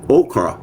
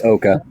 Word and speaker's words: Oka: to 1980 a so-called OKA crisis okra crisis in 1990 was one result it's oka it's oka I said it right okay cool I said it right the first time crisis in 1990 was